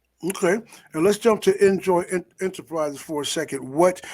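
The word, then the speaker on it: Injoy: let me say um because everybody will naturally think of enjoying the traditional spelling but enjoy is spelled i-n-j-o-y and it's you know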